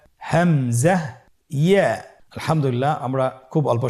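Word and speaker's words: همزة: পরবর্তী হরফটির নাম হলো হামজা। পরবর্তী হরফটির নাম হামজা। হামজা হরফটি উচ্চারণ ক্ষেত্রে বারিক করে উচ্চারণ করতে হবে এবং এখানে টেনে পড়া যাবে না, দ্রুত পড়তে হবে।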